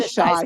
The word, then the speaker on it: Yiddishkeit: It's Yiddishkeit, Yiddishkeit. That's the yes. right way to say it. It's Yiddishkeit.